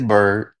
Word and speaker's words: Bird: Um, you know, as I was saying to Bird, is it Bird or Beard? I want to make sure I pronounce it correctly. It's Bird. Bird.